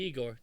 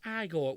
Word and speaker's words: Igor: But he must be Igor. No, it's pronounced Igor.